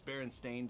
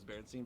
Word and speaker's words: Berenstain: bears but people thought it was its berenstain bears they thought it was Berenstein bears so there's a crazier